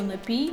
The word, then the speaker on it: напій: яке лих надій шов просто запам'ятайте що напій від слова пити четверта людина Володимир Зеленський